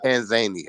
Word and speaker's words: Tanzania: West Eastern tanzia and no they say Tanzania I'm trying to pronounce it like they do I say Tanzania too but they say Tanzania when I listen to them say it that's how they say I try to pronounce